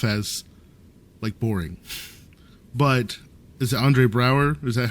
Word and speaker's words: Andre Braugher: But, is it Andre Braugher? Is that how you pronounce it?